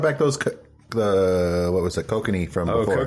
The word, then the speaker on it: Kokanee: Well, he brought back those, what was it, kokanee from before. Oh, kokanee.